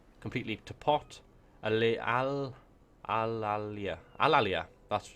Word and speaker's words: Alalia: have Alia Alia oh my God my my pronunciation is gone completely toot Al Al Al al Alia alalia that's right alalia and corales so that's